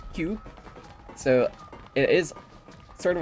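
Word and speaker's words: 九: Which is actually funny because nine in Japanese is pronounced Q.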